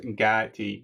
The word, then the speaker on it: Gatie: No, it's pronounced Gatie, bro.